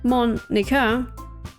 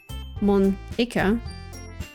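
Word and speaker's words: Monika: Monica. That's not how you say my name at all. Monica.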